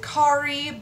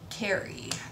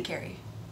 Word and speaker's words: Kerry: of people pronounce it khari but it is Carrie like Sex and the City Carrie except just not spelled